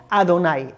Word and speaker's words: Adonai: Es muy sencillo, fíjate bien, como te he dicho, según la tradición judía, nosotros pronunciamos este nombre de las 4 letras como Adonai, Aleph, Dalet, Nun, Yud.